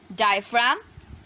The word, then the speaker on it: diaphragm: Diaphragm, DIAPHRAGM, diaphragm. G is silent.